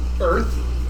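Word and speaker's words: Oerth: came to o or more appropriately pronounced Earth but spelled with an O um and he has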